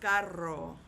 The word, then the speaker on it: carro: Now, if you had the word c a double r o, then you kind of hold that r a little bit if you can. I don't expect anybody to do this well and perfectly, but it would be pronounced carro ro. Ro. That's the sound that it makes.